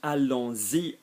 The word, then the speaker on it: allons-y: So allons-y, notice the pronunciation allons-y, because E works like a vowel.